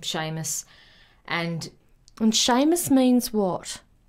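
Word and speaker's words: Seamus: is it it's pronounced Sheamus yeah that's right beautiful it is a beautiful yeah I love the the sound of it but it is spelled in the um traditional Celtic way which is s a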